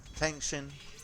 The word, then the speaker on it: Feng Xin: I'm trying to get the Chinese pronunciation like Yinghua, Feng Xin. Like each syllable needs to be hammered down when you speak Chinese.